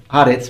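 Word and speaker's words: הָאָרֶץ: Although keep in mind that earth is normally pronounced eretz. Here it's pronounced haretz because of a grammatical rule of Semitic languages which modify the pronunciation of the noun sometimes in the presence of the article.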